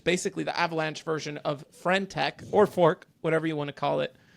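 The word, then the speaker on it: friend.tech: What the hell is Friendtech, Jorge? Did I say it right? Is it Friendtech?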